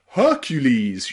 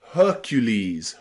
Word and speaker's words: Hercules: We also pronounce the letter E as E in Greek words. That means words in English that come from the ancient Greek language. Okay? Words like Hercules, you know, the really famous strongman? Hercules, Hercules, okay?